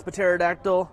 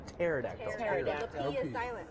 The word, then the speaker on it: pterodactyl: and beef up this paterodactyl is it potatoes a pterodactyl look I'm not here for your English um why can't you hear the pterodactyl when he's going to the bathroom is silent I'm actually going to